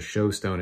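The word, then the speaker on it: shewstone: look through a stone called a shoe stone which is sort of how they pronounce the show stone it shows you stuff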